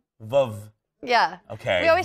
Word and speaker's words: Veuve: I've been saying it wrong. All of my friends, we call it Vouv. Yeah. It's not called Vouv. We can't call it Vouv. How do we say it? Veuve Clicquot. Veuve.